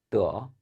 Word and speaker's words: 得: 그래서 얻다의 의미를 가질 때는 뜨어 이성으로 발음해 주셔야 됩니다.